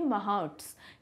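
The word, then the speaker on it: mahouts: Alright, English में हम इसका प्रोनाउंसिएशन करेंगे महाउट्स.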